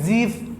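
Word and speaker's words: GIF: joint expert group और यहां पे जीफ इसको जीफ भी बोलते हैं ग्राफिकल इंटरचेंज फॉर्मेट हमने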